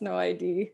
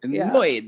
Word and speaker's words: NO ID: They're in Italy, but I believe it's No ID. Annoyed. It's annoyed. Yeah.